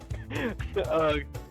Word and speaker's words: Ugg: Rug rhymes with Ugg. I'll get rhymes with brug. Ugg rhymes with Grug.